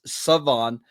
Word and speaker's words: Shavon: I know it's spelled shavon, but it's Savon uh from East Carolina.